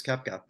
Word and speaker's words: Koepka: recently, and one of them being Brooks Koepka. I think I'm pronouncing that right.